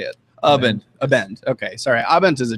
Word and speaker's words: Abend: or Abend how do you say it abent Abend okay sorry abent is a German word that